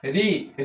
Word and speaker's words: ऋ: ठीक है देखिए ऋ ऋ का वर्तमान उच्चारण अब वर्तमान इ प्रेजेंट में डी का जो है वर्तमान उच्चारण आधा र धन छटका ई आधा र धन छटका ई बराबर ऋ होने लगा है य देखो ऋ का उच्चारण क्या होने लगा तो आधा र धन छोट का ई बराबर में छोटी मिलाकर री होने लगा है ठीक है इसका